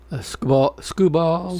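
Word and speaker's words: Skubal: Scubal.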